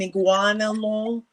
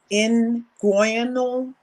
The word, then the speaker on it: inguinal: He was trying to show the babies what's it called, an iguanal hernia. Yeah. Inguinal. It's spelled like that too.